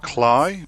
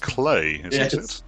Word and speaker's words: Klei: um it's it looks like it should be pronounced cly but it's actually pronounced clay yeah go me that's me doing my research